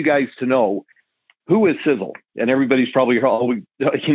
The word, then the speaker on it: Sisel: for something literally and it's in our name sizzle sizzle is spelled s-i-s-e-l it's an acronym the first letter